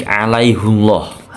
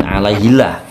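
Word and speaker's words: عَلَيْهُ اللّٰهَ: 42 ini pelajarannya yaitu ada kata alaihullah hu dibaca pendek ya bukan Alaihi tapi alaihullah hati-hati ya bukan alaihillah terus Ahada a dibaca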